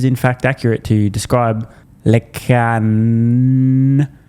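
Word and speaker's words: LeCun: fact accurate to describe Lecan, remember the T is silent, as having been quite negative basically all the time.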